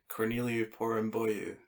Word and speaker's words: Corneliu Porumboiu: And Mark, could you please pronounce that gentleman's name for me? Sure. Corneliu Porumboiu.